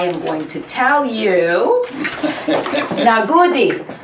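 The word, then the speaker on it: Na gode: And in my best Nigerian accent, I am going to tell you, Nagodi. Nagodi.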